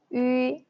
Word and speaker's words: 鱼: 好, first we pronounce 一, 一, and round your lips like a fish mouth. 鱼, 鱼, 鱼, 一, 一, 鱼, 鱼.